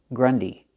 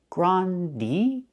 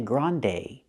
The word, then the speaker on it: grande: to a mediumsized cup the word is not pronounced Grundy Grundy we have two vowels to change the first vowel not gr but gr use the open a sound like hot and stop gr Grande we don't say Grande we say Grande use the long a like say and pay so again we don't